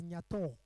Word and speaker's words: Nyatho: And just next to his, we have Nyatho, though culturally it's pronounced as Nyato.